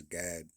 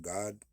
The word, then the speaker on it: Gad: You still say that as Gad, or I think it may even be pronounced God.